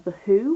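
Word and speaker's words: The Hu: To change genres ever so slightly, I've also been really into The Who, which is spelled H-U.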